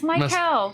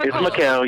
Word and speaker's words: Mykel: It's Mykel. Mykel. It's fine. It's Mykel.